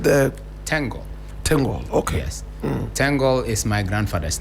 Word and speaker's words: Tengol: And he was born in a town called Tengoli in the northern part of Ghana. And he was given the name, but as a Talensi people, we pronounce it straight Tengol.